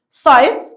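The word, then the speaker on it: sight: بعض كده نشوف هنعمل سايت نخلي بالنا السايت الجي والاتش ساين مش بنطقهم هيرين سايت اللي هو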